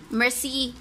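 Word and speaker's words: merci: So, kani, unsa ni siya pag-pronounce good sa France? Mercy.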